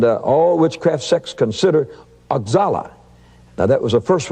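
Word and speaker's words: Oxala: demons and and uh all witchcraft sex consider axalla now that was the first one i met and that's spelt o-x-a-l-a and it's pronounced ochala and he's the head of all spirits and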